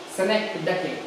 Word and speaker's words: synecdoche: This is not pronounced as ch here.